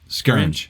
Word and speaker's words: Scaringe: Scaringe, yes, yeah.